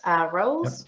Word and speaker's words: Ruols: So it's Bastien, I hope I pronounced your last name right, Ruols. Yep.